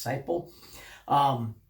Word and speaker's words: Seiple: Well, the author, Seiple, I've mispronounced your name at least once there, and I apologize for that. I believe it's Seiple.